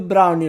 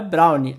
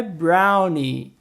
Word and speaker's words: brownie: E como eu falei do brownie lá no começo, não, gente, não é brownie. A pronúncia correta é brownie.